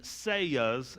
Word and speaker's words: seah: But the 3 seahs is how you pronounce that.